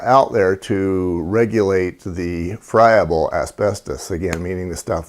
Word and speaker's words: friable: ought to cover as a term called Froebel or friable I've heard it pronounced both ways the the proper way is friable the term basically means